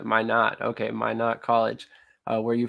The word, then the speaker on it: Minot: So forgive me if I mispronounce this college name, but is it Minot College? Why not? Why not? Why not? Gotcha. Minot.